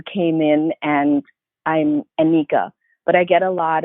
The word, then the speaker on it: Nneka: And there's some parts of Africa where you pronounce the N as well.